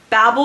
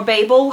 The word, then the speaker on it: Babel: I do like 163 is Babble or Babel however you want to pronounce it and I would be